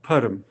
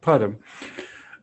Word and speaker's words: Puttam: My last name is pronounced Puttam. It's some say Tuldum and all kinds of things. Puttam.